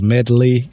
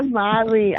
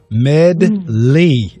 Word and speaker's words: Medley: It's 2 syllables, and then the D is kind of hard. Duh. Medley.